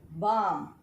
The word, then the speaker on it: balm: Next, eighth word, balm. In balm, though L is there, it is silent.